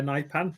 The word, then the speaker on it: Nypan: Um Nipan definitely Nipan.